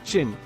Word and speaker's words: Qin: The Chinese word for China is pronounced as Qin, but spelled as Qin.